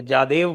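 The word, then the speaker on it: Jadhav: मैंने कहा नेटवर्क में भी तो हाँ, क्या, और उसको जादव भी नहीं कहते, जादेव बोलते हैं उसको।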